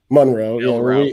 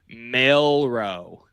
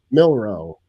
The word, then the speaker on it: Milroe: Monroe, we add depth. No, wait, you said it wrong again. Let's try that again for all the people. Milroe. Jalen Milroe. You said Monroe, like Marilyn Monroe.